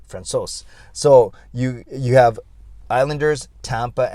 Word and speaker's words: Francouz: It's not Francouz. Yeah, it sounds like Francois, but it's Francouz.